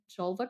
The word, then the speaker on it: Jelva: including the highly acclaimed Jelva cream, which many of my listeners have utilized and loved. This is um for the vulva. It rhymes with julva, right?